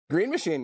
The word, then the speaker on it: Green Machine: Green Machine, yeah.